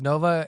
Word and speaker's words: Nova: Yeah, so the stage name is Nova. It's spelled Nohvuh.